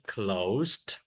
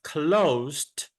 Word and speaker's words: closed: open the door is closed is the red door open or closed the red door is closed closed has a silent E we don't say Clos